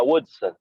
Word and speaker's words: Woodson: And then we also have Paul Woodson. Is that how you pronounce your last name? Hello. Yeah, Woodson. Yeah.